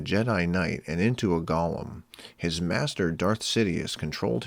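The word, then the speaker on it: גלם: Hebrew avoids writing vowels, hence GLM is pronounced Golem.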